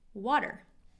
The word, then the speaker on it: water: students to drink water remember this T is a flap T in water sounds like a D water let's try that again